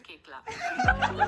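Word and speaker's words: Koechlin: There's coach and the real pronunciation is Kekla.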